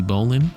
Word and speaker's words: bowline: So this is the bowline. I know it's spelled like bowline, but apparently that is the